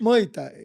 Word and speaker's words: Muay Thai: How do you Muay pronounce- Thai. Muay Thai.